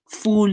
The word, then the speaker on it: fool: was saying that, please do not let people fool you, as in F-U-L-L. So if we pronounce it correctly, it's do not let people fool, as in F-O-O-L, you.